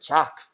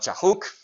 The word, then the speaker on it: Chak: It's just how they pronounce it in the classic period, Chak, not Chahuk. But apparently, they still know Chahuk.